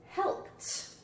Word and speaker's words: helped: Helped. Which category? Helped. Sounds like a T.